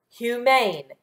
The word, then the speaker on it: humane: before the consonant and which would make this syllable open or closed open which means that the U will be long very good so let's